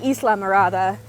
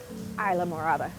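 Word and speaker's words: Islamorada: it right right cuz I want to say Isa marada and I got very much corrected on a different video by the locals of it's Isa Isa Morada but yeah looks like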